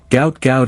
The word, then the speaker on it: Gout Gout: His manager said, "Gout Gout is how it's said," despite some misunderstandings over how to pronounce it.